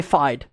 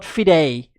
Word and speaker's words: FIDE: hammer I am light you must remember that it's pronounced different in different languages okay you have to remember this that is pronounced different in different languages and because I am from South African we would say fide not fidei I know that people would say fidei but for for Dutch